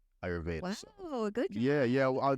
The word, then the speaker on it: Ayurveda: So just even speaking on the whole, you said it's pronounced Ayurveda, right? Ayurveda.